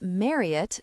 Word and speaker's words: Marriott: Her name was Marriott to rhyme with Harriet, as Marriott had mentioned once.